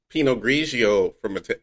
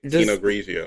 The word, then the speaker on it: Pinot Grigio: The only time that I ever drink Pinot Grigio. Does Pinot have a T at the end? Even though it's Italian? Yes, even though it is Italian.